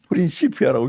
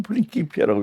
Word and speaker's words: 프린키피아: 요거 이제 레티올레이지 인류 역사상 가장 유대한 과학사라고 하는 프린키피아요 프린키피아 요게 레티너는 프린키피아라고 프린시피아라고 읽지 않고 프린키피아라고 읽거 레티너이 이제 뒤에